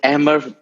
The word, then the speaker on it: Amer: Hey, and we also have from Pakistan, Amer, who's been kind enough to join us on a couple of podcasts before. Hey. Sidvi, when we weren't recording, you had my pronunciation perfect. It's Amer, and I'm very happy to be here, as always.